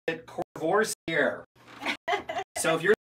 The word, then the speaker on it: Courvoisier: So it's French, Courvoisier. I pronounce it Courvoisier. So if you're like me and you're in the liquor store and you're looking for the right one, it's Courvoisier, but the VSOP, which